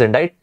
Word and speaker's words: indict: Indict or indict, the pronunciation is indict.